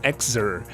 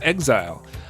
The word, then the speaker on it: XZR: first two pc releases i am often tempted to pronounce it exer but if we look at the katakana it turns out that this game is also supposed to be pronounced exile however for the sake